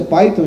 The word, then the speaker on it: Python: Por isso é bom enfatizar a pronúncia Python e não qualquer outra variação que vocês possam querer imaginar.